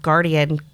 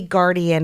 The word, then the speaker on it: guardian: I love that they spelled guardian close to the word garden. And when you say guardian again, guardian has more syllables, right? So garden has two syllables. Mhm. Guardian has three syllables.